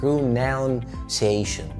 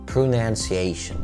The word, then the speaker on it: pronunciation: اغلبنا بيقولها pronunciation بس النطق الصح هو pronoun مش pronoun. pronunciation.